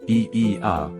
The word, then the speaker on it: Oia: No visit to Santorini is complete without a pilgrimage to OA, pronounced EI, the village that adorns the northern tip of the island.